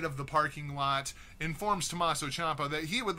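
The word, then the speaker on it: Tommaso Ciampa: number-one suspect and that suspect is tomato champ I think what they meant to say was Tommaso Champa there then interrupted by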